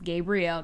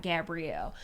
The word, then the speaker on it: Gabriel: all the time because it's gabriel not gabrielle but i'll literally say